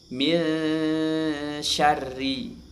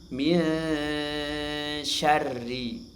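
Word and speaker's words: مِنْ شَرِّ: Nah, maka nun ini dibaca ghunah dengan cara menyamarkan bunyi huruf nun dan diarahkan ke huruf setelahnya. Posisi lidah di bawah. Cara baca seperti ini. Min syarri. Min syarri ya. Minsya bukan minya tidak. Dia dibaca samsar atau ikhfa hakiki.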